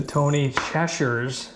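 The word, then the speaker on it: Tony Chachere's: and some of the Tony Cheshires, as my friends in Louisiana told me is the right way to pronounce it, but I still could be hacking it up.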